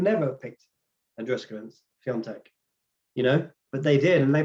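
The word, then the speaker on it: Świątek: I can never pronounce the name properly. It's Swiatek.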